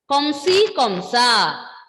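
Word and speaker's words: comme ci comme ça: Komsi komsa.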